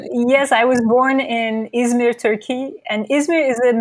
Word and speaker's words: Izmir: You come from another city that I'm not familiar with called Izmir. Am I pronouncing it right? It's Izmir. Izmir.